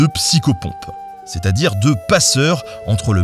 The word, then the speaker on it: psychopompe: Arthur vers Avalon, reprend le rôle de psychopompe [PRONONCER : psyco - pompe], c’est-à-dire de passeur entre le monde des vivants et celui des trépassés.